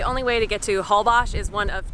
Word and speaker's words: Holbox: Holbox, as it's pronounced, is one of the most geographically unique places in Mexico.